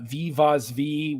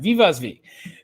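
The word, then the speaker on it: Wiewaswie: Uh Viv Vosv, which I'm pronouncing kind of in the Dutch way.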